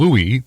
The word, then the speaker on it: Louis: the French pronunciation of Louis he always used the Lewis pronunciation even though he didn't mind people using the former the people who pointed